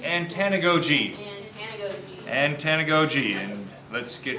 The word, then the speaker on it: antanagoge: last organization and the one today is is pronounced antanagogi and tanagoji and let's get started there so